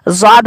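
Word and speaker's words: ض: और उसी शक्ल के उसके ऊपर नुक्ता अगर पड़ जाए तो इसको ज़ाद बोलते हैं उर्दू में, जैसा कि आप स्क्रीन पे मुलाहिजा कर रहे हैं।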